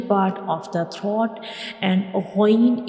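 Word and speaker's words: غ: of the throat, and ghain is pronounced from the upper part of the throat. These two letters are throat letters and they are pronounced from the throat. And ghain is also a bold letter, so we will read it with heavy sound.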